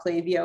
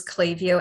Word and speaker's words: Klaviyo: about clavio is that it's a learning tool um clavio